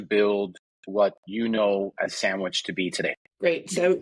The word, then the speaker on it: Sanguich: we all know that right but when you pronounce it with our translating like us us as Spanish-speaking citizens reading a word it sandwich and so it's like a lot it's that